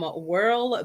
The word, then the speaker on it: Wyrl: I brought this red lipstick here from Whirl Beauty, Whirl pronounced WYRL.